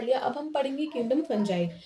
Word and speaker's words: fungi: आपको एक बात बताऊं, मोस्ट ऑफ द स्टूडेंट्स क्या बोलते हैं इसे फंगी। फंगी इसका प्रोनाउंसिएशन सही नहीं है। The right pronunciation is फंजाई। फंजाई हम बोलेंगे।